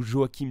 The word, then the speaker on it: Joachim: emporté par une apoplexie alors il y à débat sur la prononciation jo h1 du bellay ou joachim du bellay il semblerait qu'à l'époque la prononciation en anjou et hey joe h1 merci d'avoir écouté